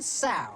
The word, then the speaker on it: sow: Add to that list 1 sow. What? Sow, you know, rhymes with cow.